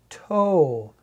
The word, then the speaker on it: toe: You don't hear the E, but this E makes the O say O instead of ah. Toe. T-O. Two sounds, three letters. Toe has a long O in it.